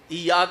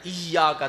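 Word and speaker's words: إياك: نعبد و ایاک نستعین۔ ایاک نہیں کہنا ہے، ایاک، تشدید ہے یہ کے اوپر، ایاک نعبد ہے، ذہن میں رہے، تلفظ غلط ہو گیا،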